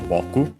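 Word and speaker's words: ぼく: It's a first person singular pronoun, accent on the first syllable, Boku.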